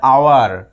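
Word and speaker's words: hour: তারপরে আবার রয়েছে আওয়ার এখানে কিন্তু এইচ উচ্চারণ হয় না এই সাইলেন্ট থাকে আওয়ার ও ইউ আর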